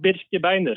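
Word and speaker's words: Birkebeiner: Oh, you roll the R. You roll the R. Yeah, we roll the R a lot here. Birkey binder. Birkey binder. Birke binder.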